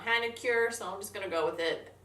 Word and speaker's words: Hanacure: mask from Seoul Korea actually probably pronounced Honaker but my New York accent makes it come out Hannah cure someone's gonna go with